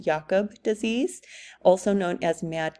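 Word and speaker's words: Jakob: heard of our variant Cru spelt um it's pronounced yakob disease also known as mad cow disease and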